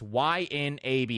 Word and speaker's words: YNAB: I use Y, and people always say, how do you pronounce that? It's YNAB.